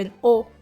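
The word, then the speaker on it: aux: ได้ ร่าง ใหม่ เป็น โอ แบบ นี้ 2 คำ นี้ เนี่ย ออก เสียง ว่า โอ เหมือน กัน เลย เช่น สมมุติ อยาก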